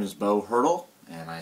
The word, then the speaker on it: Haertl: it for me please my name is Bo hurdle and I spell it b h a r t l okay